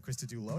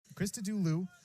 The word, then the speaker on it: Christodoulou: Sequence of plays so exciting, I mispronounced his last syllable. I said Christodoulou. Nope. Christodoulou with the terrific three-save effort there.